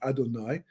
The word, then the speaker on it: Adonai: Well, it turns out that if you take the name Yud Kei Vav Kei, well, actually Aleph Daled Nun Yud, which we pronounce as Adonai, right?